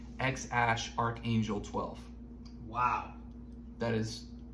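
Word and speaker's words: Æ: and then I guess the AE is pronounced ash okay and then he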